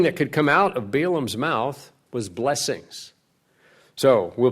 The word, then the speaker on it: Balaam: this so-called prophet named Balaam or ba la la um it might be said when you get a double A's we did we say it Balaam they would be pronounced a little differently but we use Balaam Balaam was the false